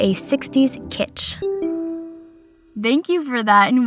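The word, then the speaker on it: kitsch: It's editing Meg and it is actually pronounced kit and it is art objects or design considered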